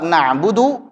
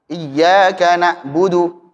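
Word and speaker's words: نعبد: wbudu haqq ainahualihi dan lafaz na'budu benar-benar bacalah dengan jelas huruf ainnya juga huruf dalnya na nabudu. Maksudnya begini, huruf ainnya ini terkadang orang membacanya dengan hamzah. Iyaka na'budu dengan hamzah. Itu yang pertama. Yang kedua, makhrajnya benar cuman sifatnya kurang tepat. Bagaimana contohnya? Na'budu terlalu ditekan. Harusnya tawasud. Tawasud itu pertengahan antara syiddah dan rakhawah.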